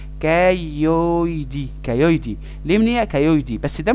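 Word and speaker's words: cailliaudi: تحس انت معوق، ما الايه اي بتنطق ايه والايه يو بتنطق او والاتنين ال سايلنت، تبقى كايويدي، كايويدي ليمنيا كايويدي.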